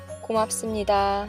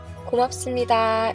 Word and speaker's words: 고맙습니다: common ways, which is Let’s first practice the pronunciation of 고맙습니다 (gomapseumnida.) I’ll say it 3 times. Now it’s your turn. Practice the phrase 3 times. 고맙습니다 (gomapseumnida) is a fantastic phrase to use when you are thanking someone.